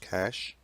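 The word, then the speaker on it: cache: RAM is called cash pronounced cash as in money and it's composed of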